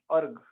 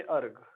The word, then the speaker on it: erg: Centimetre बोल सकता हूँ, अर्ग, ERG, अर्ग, इसको प्रोनाउंस हम करेंगे अर्ग।